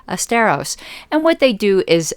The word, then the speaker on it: Asteros: spelled a-s-t-e-r-o-s dot com even though it sounds like fred astaire esteros and what they do